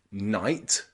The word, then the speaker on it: knight: and knife knife okay in all of these words the letter K comes before the letter n and that means the letter K is silent so practice with me